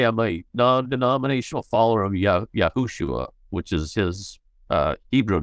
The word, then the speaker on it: Yahushua: Yahushua. Yahushua.